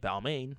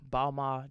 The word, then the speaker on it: Balmain: and apparently it's pronounced because the end is silent i did not know